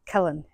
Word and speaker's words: Killen: Because obviously Farmer Phil said it was Killen. It's Killen. Killen. Killen.